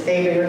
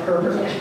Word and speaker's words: Abear: So, and it's Abear, not Herbert. The Louisiana pronunciation.